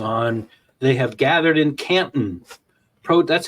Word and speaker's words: Canton: They have gathered in Canton. That's how you pronounce it, by the way, Canton.